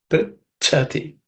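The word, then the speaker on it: पृच्छति: a compound consonant, and that the second letter is cha, which is the second letter in the cha varga. It has to be aspirated. Prichati.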